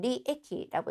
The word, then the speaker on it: 利益: 자, 이익이라고 하는 단어를 리에키라고 읽었습니다.